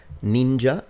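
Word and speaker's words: 忍者: noono would be the original Japanese Kun yomi ninja is the Japanese on yomi which comes from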